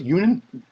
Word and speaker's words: Younan: Union Danny Union am I saying it right Union yeah even n Union underscore a PP Pro